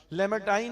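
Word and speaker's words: Lamartine: लेमेटाइन है, शायद यही प्रोनाउंसिएशन होगी, फ्रेंच है वो।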